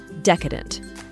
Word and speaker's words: decadent: desserts or gourmet dishes the word is also stressed on the first syllable decadent the most decadent cocktails